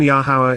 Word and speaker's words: Yahowah: and then enjoy being sexual thereafter moreover even yahwah is displaying a sense of humor after Sarah